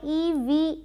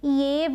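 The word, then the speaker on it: eve: अब आते हैं आई ई वी ई पर। इसे ईव बोलते हैं। इव नहीं बोलेंगे। ईव ठीक है?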